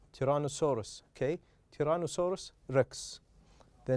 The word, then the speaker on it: tyrannosaurus: as you can see this is the stressed part so we are going to pronounce it loud and longer than other syllables tyrannosaurus tyrannosaurus okay tyrannosaurus rex the